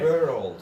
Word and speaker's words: world: So you just say it like you would say two separate words, okay? But it's were old, okay?